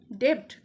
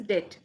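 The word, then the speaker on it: debt: এটাকে তোমরা কি প্রোনাউন্স করো? ডেব্ট অর ডেবট? This is ডেট।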